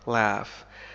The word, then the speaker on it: laugh: المضارع هي laugh يضحك laugh تنطق بطريقتين مختلفتين فالإنجليزية الأمريكية تنطق ب laugh مثل cat laugh cat لكن في الإنجليزية البريطانية تنطق ب laughed مثل father I laughed فهذين الحرفين ينطقان كما ننطق في father The other pirates laughed